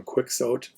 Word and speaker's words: Quixote: And I know you may be thinking we should be pronouncing it Quixote, but in English departments we pronounce it Quixote. The argument being that we'll never get the Spanish sound properly, so they just anglicize it that way.